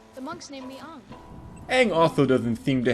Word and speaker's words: Aang: The monks named me Ang.